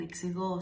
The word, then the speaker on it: εξηγώ: They have the same endings, but be careful one thing, that the stress in εξηγώ stays at the last syllable, o, is, e, and